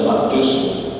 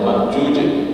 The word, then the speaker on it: Ma'juj: Ada yang bacanya Ya'juj dan Ma'juj. Ya, itu salah, itu bacanya Ma'juj. Jim ya, hurufnya jim ya.